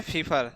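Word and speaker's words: Pfeffer: इसमें P silent है। ठीक है? हमें समझ में नहीं आता जब साइलेंट होता है तो लिखते क्यों हैं सब? ठीक है? तो यहां से हम पढ़ते हैं फीफर।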